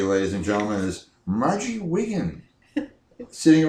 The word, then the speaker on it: Wiggin: And now the favorite of everybody, ladies and gentlemen, is Margie Wiggin, sitting right next to me. You don't want to call her Marge, because I think that or Wiggins, because it rhymes with Higgins.